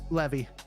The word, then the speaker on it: Levi: her own person now so uh Zach Levy Levi how do you say it is it Levi or Levy Levy Levy Zachary Levy uh it says Kevin feige